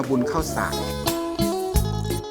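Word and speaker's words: บุญข้าวสาก: ด้วย เลย เรียก ว่า บุญ ข้าว ฉลาก ออก เสียง แบบ อีสาน ว่า บุญ ข้าว สาก อัน นี้ คือ อะไร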